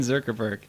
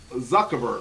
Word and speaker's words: Zuckerberg: didn't say it right zurkerberg you're still saying zerkerberg zuckerberg there you go okay okay so zuckerberg but